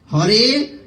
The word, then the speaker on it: হরে: কৃষ্ণ মহামন্ত্র কীর্তন করছেন তারা হরে বলতে পারেন না তারা হারে বলে হরে কৃষ্ণ কেন তাদের ইংরেজদের এটা একটা বৈশিষ্ট্য তারা এই যেমন এখানে দেখুন এই এইচ এর পরে কি এ এর শব্দ উচ্চারণ কিভাবে হয়? হরে কৃষ্ণ এটা হারে।